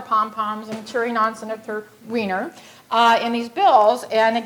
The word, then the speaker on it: Wiener: So I like to refer to him as Senator Scott myself, but his last name is Wiener. Okay, and we even tried to Weiner, but he doesn't pronounce it that way either, so Senator Wiener became the author of our bill.